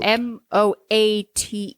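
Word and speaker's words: Moate: and Audrey Moet I think that's how they pronounce it m o a t e moat moat MO Louisiana Bayou County once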